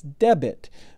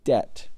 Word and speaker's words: debt: at it or debit a lot of people mispronounce that and think it's debit but there's no I in there if there was an